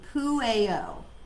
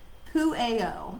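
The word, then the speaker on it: Pueo: Poo is correct, pronounced with a long A and a long O. So Poo-A-O. Poo-A-O is the owl.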